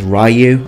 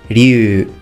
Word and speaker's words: Ryu: series now this name I've sometimes heard it mispronounced as rayu other times mispronounced as Ryu but the actual name is ru Ru now this K here would also be